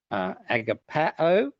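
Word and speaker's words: ἀγαπάω: agap we can get agapao, and I'm deliberately doing the a-o to reflect the accent. The accent is just there to remind us which syllable to kind of give a bit more stress to.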